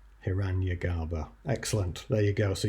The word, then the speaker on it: Hiranyagarbha: Hiranyagarbha. Hiranyagarbha. I've said it in an anglicised way. Hiranyagarbha. Excellent. There you go. So you'll know about Hiranyagarbha.